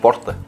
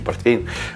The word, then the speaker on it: порто: Цена, да, кусается, но это, извините, порто. Это не портвейн. Многие путают порто, портвейн. Правильно говорить, порто вайн или вино из порта, или португальское вино.